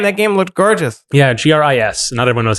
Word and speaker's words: Gris: said Gris yeah well it's the French word for gray Oh which can be pronounced agree but also a Greece like Greece like a like yeah